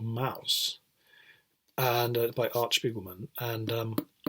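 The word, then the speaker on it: Maus: Mouse is German for mouse, pronounced the same.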